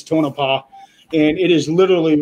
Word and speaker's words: Tonopah: It's in a town called Tonopah, or Tonopah, however it's pronounced. I think it's Tonopah, and it is literally right at about the halfway point between Vegas and Reno.